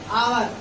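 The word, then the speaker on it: hour: जैसे कि इसको हम बोलते हैं आवर, इसमें ए साइलेंट होता है और आवर की ध्वनि जो आ की ध्वनि निकलती है, आ से स्वर होता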